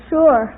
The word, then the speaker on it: sure: who wants you to name two common words in the English language that begin with Su but which are pronounced as if they started with SH uh Pat well there's